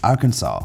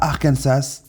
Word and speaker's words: Arkansas: Code de la Kansas il n'y a qu'une seule façon de prononcer le nom de l'État et c'est hackenza pas Arkansas ou Arkansas ces deux expressions seraient considérées comme illégales selon la loi la prononciation correcte darkansa avec le S final muet a été officialisé par